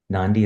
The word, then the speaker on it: Nandi: right um uh my full name is um pronounced nanen n nandi is the last name nanen is the first